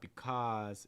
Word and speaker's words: because: this too though um because because so it's not because it's because because or the last word